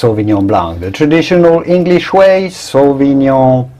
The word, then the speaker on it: sauvignon blanc: it the french way the genuine french way you would say sauvignon blanc the c at the end in french is silent sauvignon blanc when it starts to